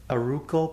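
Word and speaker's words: Arauco: the sticker on it aruka ply i think is how you say it yeah a-r-a-u-c-o root call ply anyway i'm going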